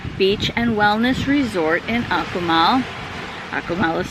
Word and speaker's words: Akumal: We are at the Akumal Bay Beach and Wellness Resort in Akumal. Akumal is spelled A-K-U-M-A-L, and it is Mayan for place of the turtles, because this is a giant sea turtle preserve.